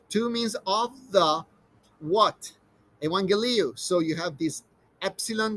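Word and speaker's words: εὐαγγέλιον: and then you have two gammas which probably you encounter in in math classes uh usually sounds like a g but when they're back to back the first gamma is actually softened into an n all right so gamma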